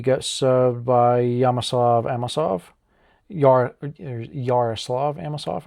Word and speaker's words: Yaroslav Amosov: Yaroslav Amosov, I believe, is how it's pronounced.